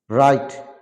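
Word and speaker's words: write: প্রদর্শিত শব্দগুলোতে W double you later will be silent such রিক মানে ধ্বংস রে মানে রাগ রাইট মানে লেখা রিদ মানে বাঁকানো বাঁকানো রেস্ট মানে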